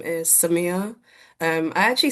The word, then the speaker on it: Samia: My name is Samya. Um, I actually say the anglicized way and I realize I'm in a conversation with diaspora people. So, it's pronounced Samuel, but people um have butchered my name, so I've anglicized it.